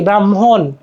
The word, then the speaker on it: ব্রাহ্মণ: ব্রাহ্মণ ব্রাহ্মণ ব্রাহ্মণ হ্যা উচ্চারণ হবে কি ব্রাহ্মণ একটা হ উচ্চারণ আসতেছে না তাই অভিধান ও এখানে